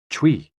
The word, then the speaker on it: chui: associated with the lungs Chui pronounced like Chui with a forceful exhale which is also associated with